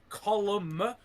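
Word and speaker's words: Colm: Column, that's how you pronounce his name.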